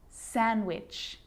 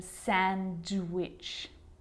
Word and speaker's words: sandwich: silent too Wednesday handsome sandwich so I'm not pronouncing the D in Sandwich I'm just pronouncing the consonant n sound before it try it with